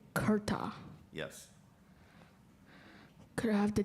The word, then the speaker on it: kurta: that again kurta am i saying it correctly kurta yes could i have the definition a loose